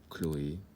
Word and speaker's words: Chloé: Et puis, parfois, il y a aussi pour certains prénoms, comme Chloé, ou le nom de famille d'un grand musicien, Bach. On ne dit pas Bach ou Chloé.